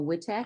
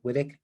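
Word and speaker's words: Witek: the attorney is mr l wittek i hope i pronounced that correctly yes thank you madam chair um for purposes of the record good evening my name is whittick w-i-t-e-k from the law firm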